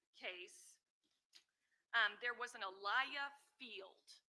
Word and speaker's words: Aaliyah: And in this particular case, um, there was an Aliyah Field, correct? Am I pronouncing her name correct? Aliyah. Aaliyah Fields.